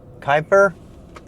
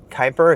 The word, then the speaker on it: Kuiper: already know it's called project Kyper I think I said it right Kyper it starts with a K and it's from Amazon